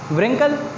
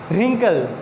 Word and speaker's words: wrinkle: व्रिंकल? नो नो नो नो, यस क्या होगा? रिंकल, very good, this is रिंकल। यहाँ पे भी जो डब्ल्यू है वो क्या होगा? यहाँ पे साइलेंट लेटर है।